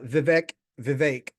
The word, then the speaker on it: Vivek: his name is Viv it rhymes with cake thank you for your